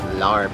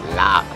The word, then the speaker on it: larb: Supposedly, it's not pronounced larb, it's lap.